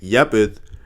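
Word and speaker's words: יפת: of all the name yepith as it's pronounced um in its origin in the original Hebrew language means opened not fair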